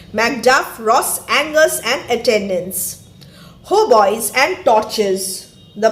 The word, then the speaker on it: hautboy: Hautboys and torches. The pronunciation is hautboy.